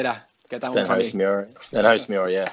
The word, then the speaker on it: Stenhousemuir: Get that Stenhousemuir, yeah, not bad.